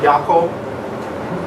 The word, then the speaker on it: Jakob: Jakob. Jakob? These J's are pronounced like Y's, by the way.